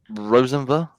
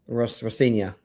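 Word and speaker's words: Rosenior: Rosenva. Rosior.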